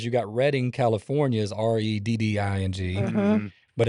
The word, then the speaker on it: Redding: But I've been saying it wrong, and the reason is because you got Reading, California is Redding, but it's a lot like it is here with, you've got Lancaster, Pennsylvania, but here it's Lancaster.